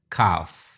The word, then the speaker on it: calf: ऐसे 3-3 अल्फाज तलाश करके लिखिए जिनमें L, D, G और T साइलेंट हो। L, calf, walk, talk.